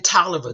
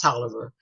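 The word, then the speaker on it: Taliaferro: 1873 he he says I was born in toer there's that spelling again cuz nobody know how to spell that t a l i a f e r r o they don't know it's pronounced toer toer County Georgia sixth district uh we bought up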